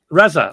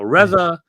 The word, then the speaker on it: RZA: hey you know um this is like Risa how do I pronounce that RZA Reza okay so Reza this is Reza's favorite